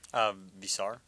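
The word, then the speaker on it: Veesaar: I also think, remind me how you pronounce Henry's last name. Visar.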